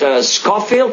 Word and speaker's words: Schofield: um from wisconsin and the city is called scofield is that right dr fehrman do i pronounce that right yes scofield helen it's called